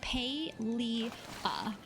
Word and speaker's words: Palia: mispronounce the game, and the way it is pronounced is Palia.